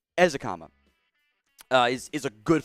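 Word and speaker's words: Ezukanma: the better ones uh izakam i mispronounced it earlier eric ezakama uh is is a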